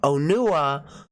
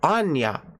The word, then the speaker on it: Onua: the movie and you could hear them clearly pronounce it onua but my friend would call it Anya Anya yeah we joke laughs so but but